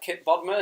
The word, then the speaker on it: Kipp Bodnar: We have Kipp Bodnar. Is that how you pronounce it, Kipp? Is that correct? Yep.